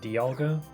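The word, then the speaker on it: Dialga: sense to me because it's like diamond. You don't say demon, say diamond. So, it just makes sense that it be pronounced Dolga.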